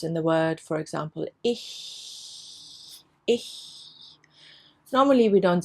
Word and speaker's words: ich: It comes in the word, for example, ich. Normally we don't say ich.